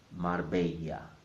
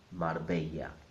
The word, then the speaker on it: Marbella: The R in the middle must sound mar, mar. And the second bit, the Spanish way. Many people are familiar with the Italian way of saying this bit, bella. But in Spanish it's not bella, it's bella. So altogether is Marbella, Marbella.